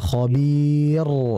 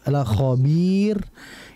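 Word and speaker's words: خبير: sama innabahum bihim yaumaid khobir Nah ada sih yang seperti itu Ah ini salah karena posisi Khabir itu harusnya tipis ya maka ini hati-hati dalam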